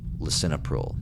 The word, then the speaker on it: lisinopril: I don't want to keep pronouncing it wrong. Lisinopril.